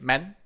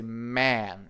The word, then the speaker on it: man: For example, in the word man, we don't say men, we say man, right?